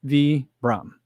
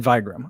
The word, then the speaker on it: Vibram: vibram guys i figu i learned how to say vram correctly um i was watching the doctors of running podcast uh on youtube they interviewed uh to see the founder of toppo and he says he he used to work for vibram and he knows the founder of it his name is vitali something so it's v brahm i said vigram i guess i spelled